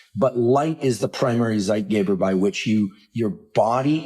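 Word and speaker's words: zeitgeber: light is the primary zeit Gaber it's my terrible German pronunciation for timekeeper when you eat when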